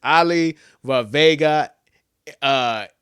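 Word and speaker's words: Olaivavega Ioane: It's Ali Vavega Ioane.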